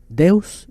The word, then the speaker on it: Deus: Dice Franco en portugués, se pronuncia Deus, ese viene más directo del latín, ¿verdad?